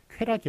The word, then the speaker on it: 쾌락: 짜라고 올릴 거야 맞습니다만 쾌락이 라고 흔쾌히 수락할 때 쾌락이 라고 소금으로 있는 것을 맡겨야 했습니다 자 쾌락에 락은 올려 발음이 락 이에요 자들의 려는 형상도 있는